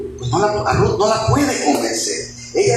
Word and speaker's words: Ruth: El nombre de Ruth, hermanos, viene del vocablo hebreo Ruth, que se escribe R-U-W-T-H, Ruth, y eso significa amiga.